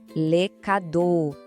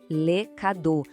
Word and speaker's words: les cadeaux: Les cadeaux. Atenção na pronúncia aqui. Les cadeaux. Aquele X no final é mudo, a gente não fala, tá?